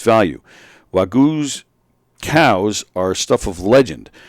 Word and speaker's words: Wagyu: It's pronounced Wagyu. Yeah.